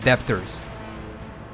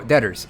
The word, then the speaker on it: debtors: Is that how you say it? Like debt debtors. Dtors. How do you pronounce this? It's not debtors. Yeah. Oh, detors. Okay.